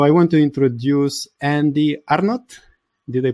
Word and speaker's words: Arnott: and that's pretty nice most people drop one tea and and think I'm French you know Andy r no or I get all